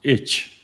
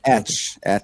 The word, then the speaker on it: Etch: I thought it's pronounced itch. It's not itch, right? It's not the itch, right? Etch, like like Etch-a-Sketch in the US, if you're familiar That with makes more sense than my pronunciation.